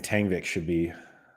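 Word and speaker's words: Mbappé: live in France that the correct pronunciation which everybody avoids is just B that the m is almost silent and it should be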